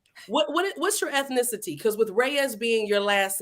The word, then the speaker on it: Reyes: But I said I'll go ahead and just I'll just go ahead and say it the way everybody else in America says it, Reyes. But no, it's Reyes.